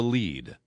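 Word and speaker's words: lede: And in journalism school, there is a term called burying the lead. Lead in journalism is spelled L-E-D-E.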